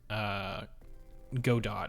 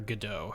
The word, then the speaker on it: Godot: The other thing is that this UI uses Godot or Godot, however you want to pronounce it, which is a game